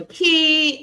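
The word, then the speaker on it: Kie: And it everyone's saying hello to Key and um it's um spelled K I E but it's short for Kesha and so we say we pronounce that key and um so glad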